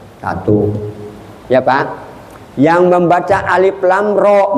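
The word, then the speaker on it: الر: Yang membaca alif lam ro bacanya alaro.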